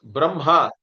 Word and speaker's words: Brahma: Whenever Ikma is there, we always pronounce it as Imha. The Makara comes first, Hakara comes afterwards.